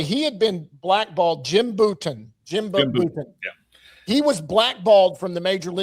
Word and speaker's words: Bouton: Bouton, that's how you say his name.